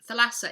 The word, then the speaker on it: Thalassa: a strange him by Laura Thalassa which is Thalassa is spelt th al a ESS a if in